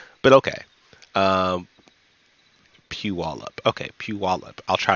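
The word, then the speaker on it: Puyallup: wallup ah a oh pew pew all up Pew wall up okay yeah I kept saying Yeah P y'all up um cuz that's how it's spelled it spelled Pew y'all up and I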